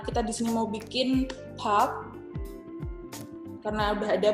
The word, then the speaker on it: Park: Park, kalau kita kan bahasa Inggris park gitu ya. Padahal kalau di Korea dia aslinya bacanya pa. bak, bukan. Pak. Jadi B-nya ini samar. Pak. Cara penulisannya, apakah BAK? Yes. Jadi bukan PARK, tapi penulisannya adalah pak.